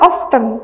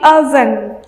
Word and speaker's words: often: itu sering artinya dan bacanya itu bukan often tapi oven Ozon nah bedanya yuzuli